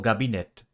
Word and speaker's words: gabinetto: O gabinetto means the restroom. Notice that the initial k sound in this word becomes voiced between vowels.